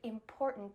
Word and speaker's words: important: I want you to use this word important because in the middle we have that glottal T, import, and then at the end we have a stop T, important.